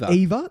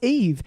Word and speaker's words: EVE: And I kept saying, I've called it Eva. No, it's Eve. Is it really? Yeah, and he pronounces it wrong.